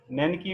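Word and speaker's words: Znaniecki: नैनिकी में Z silent रहेगा, जेड, तो ZNANI तो दे studied in about farmer in Poland.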